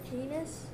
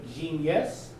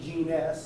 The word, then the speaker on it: genus: you say it jake genus genus i know if you're looking at me you probably want to say genius but it's actually gene s there's no i in there and then last group